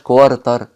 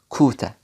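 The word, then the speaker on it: quarter: دي اسمها كوارتر كوارتر صدقني ما اسمهاش كوارتر اسمها كوته كوته كوته كوته الا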